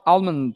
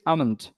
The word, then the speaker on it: almond: আমরা যদি দেখি almond হচ্ছে যে আমাদের proper pronunciation, it is not almond, it is almond, right? Yes, sir. Almond. Yes, sir. This is the proper pronunciation.